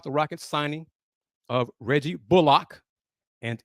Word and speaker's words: Bullock: Rockets signing of Reggie Bullock, and it is pronounced Bullock, not Bullock.